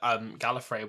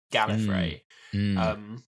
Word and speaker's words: Gallifrey: Well, I do find it mad that Gallifrey wasn't mentioned for... I don't think it was mentioned until something like the 3rd Doctor's... Or maybe even the 4th Doctor's, like, by name. Gallifrey.